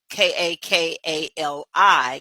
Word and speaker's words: Kakali: find her cockal it it sounds like broccoli but it's spelled k a k a l i kakali and then bataria